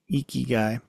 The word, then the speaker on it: Ikigai: the iy means life I'm probably saying it wrong it's probably like eeky eeky eeky guy but the eeky means